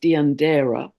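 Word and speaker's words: Deianira: asking about the spelling I believe it's pronounced deander he was asked by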